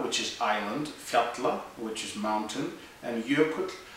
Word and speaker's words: fjalla: break it down into Aya which is Island fatla which is mountain and yuk which is Glacier